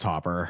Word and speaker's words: Topher: Also known as Topher, I believe, by some of our staff. It's pronounced Topper.